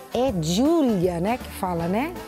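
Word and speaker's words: Giulia: É Júlia, né, que fala, né? É isso? É. Porque G-I-U, né? Não é J-U. É verdade, mas pro final é o A.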